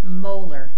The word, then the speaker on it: molar: You notice the way that I pronounce that when I have the M in the actual concentration there? It's 1.0 molar sodium chloride.